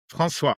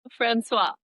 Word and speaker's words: François: François. François.